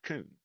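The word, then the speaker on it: Kuhn: As you can see, there is a brand, coon, and it is pronounced coon.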